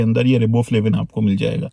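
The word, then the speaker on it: riboflavin: bread के अंदर यह रिबबो फ्लेविन आपको मिल जाएगा आई थिंक इसकी करेक्ट प्रोनाउंस एशन राइबो फ्लेव है अच्छा एंजाइम्स और रिबबो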